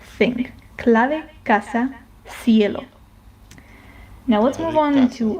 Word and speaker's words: cielo: I, like for example, in the word cielo, which means the sky, then it is more similar to this th sound in sing. Okay? Sing, cielo. Some people, especially in Spain, pronounce it more like an S like sound. Sound, cielo. But, I'm more inclined or most people are more inclined towards the th or something in between.